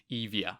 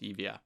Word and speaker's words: Euboea: And from this victory, the Persian fleet now, they would set sail to Evia, which is sort of spelled Euboea, but it's pronounced Evia, which is the home of Eretria.